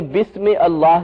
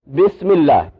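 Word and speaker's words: بسم الله: इसको किस तरह पढ़ेंगे बिस्म अल्लाह की बजाय बिस्मिल्लाह अल्लाह ही है मिसाल के तौर पर अल्ला ही जब यह पीछे मिलकर इस्तेमाल होगा तो बिस्म अल्ला ही की बजाय क्या कहेंगे बिस्मिल्लाह क्या साबित हुआ कि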